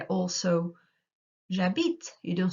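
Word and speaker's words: j'habite: you you say also jabit you don't say habit can you remember we discussed that before so if the h is silent it means it doesn't exist so if you get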